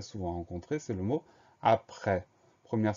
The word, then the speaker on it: après: Donc on fait attention à ce E qui s'écrit E accent grave et à cette lettre muette à la fin du mot, le S.